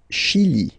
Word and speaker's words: Chili: Le Chili, le Chili. Okay, remember, CH, sh, okay, Chili, le Chili.